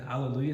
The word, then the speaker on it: Alleluia: Every syllable is a pure open vowel, as opposed to Alleluia or any kind of thing like that, especially le. Le can turn to lay if we let it. Alleluia. And lu is the accented syllable of Alleluia. So we always want to give that a little bit more push when we're singing Alleluia,